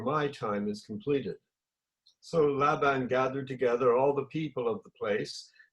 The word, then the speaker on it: Laban: Just tell me, this person in here, Laban, is it pronounced Laban?